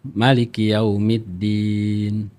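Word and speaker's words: مالك يوم الدين: Kalau Maliki Yaumiddin pendek tuh. Pendek. Maliki Yaumiddin. Itu beda artinya.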